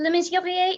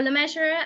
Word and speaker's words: Le Mesurier: I'm Le Mesurier in French, or Le Mesurier as it's commonly pronounced in the UK and America.